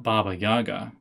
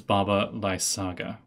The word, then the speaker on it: Baba Lysaga: It is not Baba Yaga. It's Baba Lysaga.